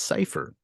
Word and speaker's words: Seyfer: Green Room beforehand but it is not safer it's safer so Mike Piper always